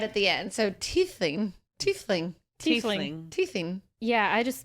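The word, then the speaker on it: Tiefling: hi D and D girl here t for pronouncing Ty Lings think teeth with a lith so Theus thiefing I think it's like a teeth te te you you get it right at the end so teing teing teing yeah I just Mumble over words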